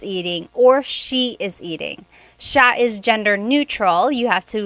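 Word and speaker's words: siya: And another tip uh just about pronunciation, it's sha sha. The s i y combination makes that sha- sound. It looks like it should be pronounced sia. There are some regions in the Philippines, I believe, that say sia, but usually in the central Luzon area, it's pronounced sha sha.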